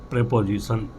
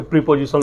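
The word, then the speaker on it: preposition: ऑफ क्या होता है, ऑफ होता है प्रेपोजिशन। ऑफ क्या होता है, प्रेपोजिशन। वैसे प्रीपोजिशन लोग कहते हैं, लेकिन एक्चुअल जो प्रोनाउंसिएशन है वो प्रेपोजिशन होता है।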